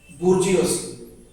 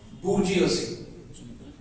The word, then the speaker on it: bourgeoisie: I'm giving you the pronunciation. Bourgeoisie. This is the way it is pronounced. Bourgeoisie.